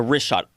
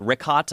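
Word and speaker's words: Richat: Yeah, the Rishot.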